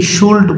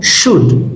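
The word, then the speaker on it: should: মাইট, shell, এটাকে অনেকে শুল্ড বলে, নো, শুড, এলটা এখানে সাইলেন্ট।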